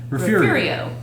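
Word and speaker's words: Refugio: So, you would pronounce that word Refurio.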